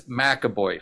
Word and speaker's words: McAvoy: Some people even still have a hard time pronouncing your last name, Jack. You should talk with Sandeep. It's McAvoy, folks. And Kimberly Miller, thank you